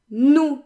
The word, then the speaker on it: nous: The S is silent and the OU is a short, stable sound.